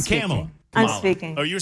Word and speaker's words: Kamala: You sound like Kamala Harris. I was notified that I was saying her name wrong this whole time, by the way.